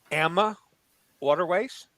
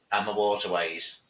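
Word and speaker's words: AmaWaterways: you said something, and maybe I've been doing it wrong all these years. probably. AMA waterways. AMA waterways. You've been Over saying here, AMA. We call it AMA waterways.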